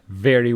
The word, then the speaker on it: very: So here, is a labiodental sound for which your teeth and your lips touch each other. V, v, very.